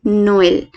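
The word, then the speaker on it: Noël: नोएल मतलब हम ई को, अगर हम इस वर्ड को थोड़ा सा डिवाइड करें तो ई को हम 2 लेंगे, यानी कि NOEEL। लिखना नहीं है, सिर्फ अपने मन के लिए ध्यान रखना है, NOEEL। तो हम इसको कैसे प्रोनाउंस करेंगे, नोएल, जैसे नोएल, नोएल।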